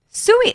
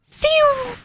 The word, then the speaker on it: Siu: Sui, what is that?